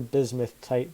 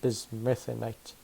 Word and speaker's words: bismuthinite: The only other ores I've found so far are coal and a bit of poor bismuthite that I found in the east. Or bismuthinite. I say it wrong every time.